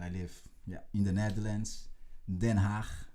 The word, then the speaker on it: Den Haag: Den Haag, I should say, is the best pronunciation. It's the really Dutch pronunciation.